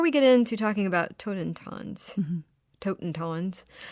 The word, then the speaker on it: Totentanz: And you should tell me what it's called, because I'm afraid to try to pronounce it myself. That's okay. It's called Totentanz.